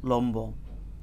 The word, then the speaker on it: লম্ব: ব এবং ম এর সাথে যদি বফলা যুক্ত হয় তাহলে বয়েরও উচ্চারণ হবে, বফলার উচ্চারণ হবে, ময়ের উচ্চারণ হবে, বফলার উচ্চারণ হবে। মানে এই ভ এবং ময়ের সাথে যদি বফলা যুক্ত হয় বর্ণেরও উচ্চারণ হবে, ফলারও উচ্চারণ হবে।